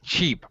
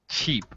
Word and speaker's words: cheap: which by the way cheap pronunciation cheap ch sound cheap yeah yeah be careful